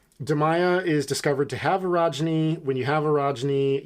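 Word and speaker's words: orogeny: um de Maya has been discovered to have erogeny is that what happened I think that's how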